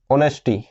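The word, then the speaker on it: honesty: उसी प्रकार से जैसे ऑनेस्टी, ऑनेस्टी। ठीक है, अब ऑनेस्टी को कैसे प्रोनाउंस किया जाता है, ओ नेस्टी। ठीक है, अब देखो इसमें किस चीज की साउंड आ रही है, ओ की साउंड आ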